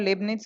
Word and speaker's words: Leibniz: You can check the pronunciation. This is called Leibniz theorem.